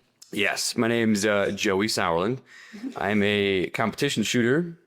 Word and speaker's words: Sauerland: My name's uh Joey Sourland.